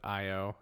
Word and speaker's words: Io: So, on the moon Io, which, fun fact, when it opens up and shows us the moon of Io and spells it, and it's spelled, you know, the letter I, the letter O.